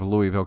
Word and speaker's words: Louisville: And finally we spoke to each other, and sure enough, he was a Louisville native, they pronounce it Louisville.